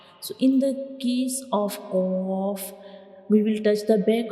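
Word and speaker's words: ق: And when we pronounce qaf, the very back part of the tongue touches the soft palate.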